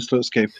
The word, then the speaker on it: Slutsky: Is that the correct pronunciation? Yeah, Leonard Slutsky.